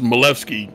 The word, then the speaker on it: Milewski: running wide and now Milewski bacon uh taking one of the many shortcuts and a retirement maybe that was crew it's hardware malfunction there's something going on there this actually pronounced malevsky he's polish trust me on this